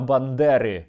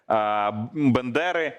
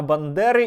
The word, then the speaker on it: Бандера: Ведучий телеканалу "Наш" настільки проникся ненавистю до Степана Андрійовича, що навіть не зміг правильно вимовити його прізвище. Вивішують портрети Бендери. Бендери. Та це не все. Засудила ходу до Дня народження Степана Бандери і підконтрольна російській федерації Білорусь.